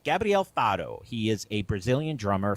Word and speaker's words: Gabriel Faro: Is it Gabriel Faro?